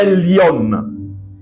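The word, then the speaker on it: עליון: Le Très-Haut, c'est en hébreu, c'est Elyon. Certaines personnes vont peut-être prononcer d'une autre manière.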